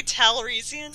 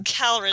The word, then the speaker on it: Calrissian: Did you say Talrissian? Did I? Talrissian? How do you say his name? It's Calrissian. Oh, Calrissian.